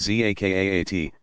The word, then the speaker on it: zakat: Zakat, pronounced zakaat, almsgiving, is one of the 5 pillars.